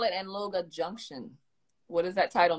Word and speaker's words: Anloga: To, yeah, you have to put like a G in between the N and the L, Angloga. You know, so that's how you get it, like Angloga. Angloga. Oh, okay. Like Angloga, but the G is silent though, somehow. It's really silent.